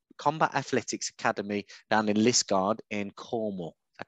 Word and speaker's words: Liskeard: So Mark is the chief instructor at the Combat Athletics Academy down in Liskeard in Cornwall. Is that correct? I pronounced that right?